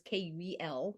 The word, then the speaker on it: Kuel: It is spelled a little weird, right? It's spelled with a K, so it's Kuel.